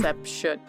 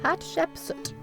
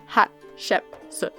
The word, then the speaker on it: Hatshepsut: Hatshepsut. I just mispronounced. Wow. Hatshepsut. Hatshepsut.